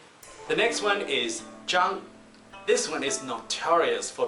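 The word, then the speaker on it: Zhang: one more time W the next one is Jung this one is notorious for being mispronounced almost every single time so listen to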